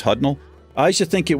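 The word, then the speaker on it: Hudnall: to think my last name hutnell h-u-d-n-a-l-l it's pronounced hudnell I used to think it was German it sounds a little bit German to me hudnell and it looks when you spell it out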